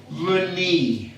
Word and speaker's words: runny: But when you have two syllables and more, it likes to make a long E sound. So what's this word here? Runny.